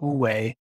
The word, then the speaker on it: wu-wei: Yeah, so the concept, so ’Trying Not To Try’ is about this concept pronounced wu-wei in Mandarin.